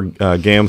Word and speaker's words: GAAM: And it rhymes with DAM. Or spam.